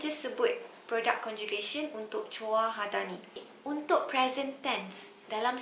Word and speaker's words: 좋아하다: So jwahada ni kalau awak tengok ejaan dia J-U. Kadang-kadang awak akan dengar bunyi dia macam J-U. So awak mungkin akan buat kesilapan eja J-U. Tapi take note, dia sebenarnya J-O. Jwahada.